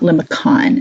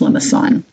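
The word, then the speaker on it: limaçon: little tail on it that's French and it's a soft C so it's not limicon it's pronounced lamason so this was called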